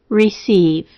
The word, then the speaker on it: receive: upcoming reading of Romans the first two have silent letters a silent W and w r a silent K and K N and a c as s and the EI as long e try them now wrath knowing receive the first word divides